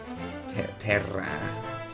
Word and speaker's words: Terra: Terra. Double R, if you don't pronounce that in English.